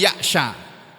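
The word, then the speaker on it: يعشى: mengartikan wa may ya'syu, itu membacanya bukan wa may ya'syu tapi wa may ya'sha. Bi fathis shin, dengan menfathah huruf shin. Huruf shinnya ini di fathah.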